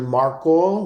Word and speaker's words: Markle: on Facebook at marle like m a r KL e rhymes with sparkle um or original marle